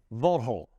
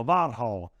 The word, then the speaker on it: Warchol: in Bud Azure and to say your name properly Vault hole no there we go about hole all right so there